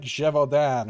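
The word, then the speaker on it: Gévaudan: it's french smart kate i believe it's supposed to be pronounced like jevodan or something like that but we're pronouncing it wrong on purpose because that's how the voice actor pronounced it even though it explicitly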